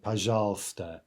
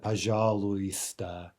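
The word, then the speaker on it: пожалуйста: welcome now remember that this is one of those few words that's pronounced quite differently from the way it's written right puzzles not paja lewis but simply puzzles do I shall stay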